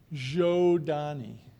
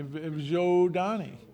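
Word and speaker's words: Zhodani: for about years because we don't give a pronunciation guys zani zani thank you people on Twitter are asking oh okay well yeah yeah write that down z h o d n i zani pronounced just like it's spelled more questions okay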